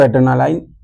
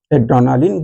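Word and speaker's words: adrenaline: उसको एड्रेनालाइन भी कहते हैं, एड्रेनालिन भी कह सकते हैं आप।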